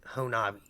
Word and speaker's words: Honobia: The locals pronounce it Honobia. Honobia?